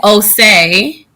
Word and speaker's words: Osei: It is Osei. So really easy. Yep, Osei.